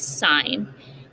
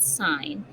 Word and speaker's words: sine: the first one is sine um it looks like sin like down here when you abbreviate it but you actually pronounce it sine and the sine ratio